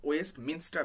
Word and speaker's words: Westminster: আপন ওয়েস্টমিনস্টার bridge, মিনিস্টার নয়, খেয়াল রাখবে উচ্চারণটা, ওয়েস্টমিনস্টার।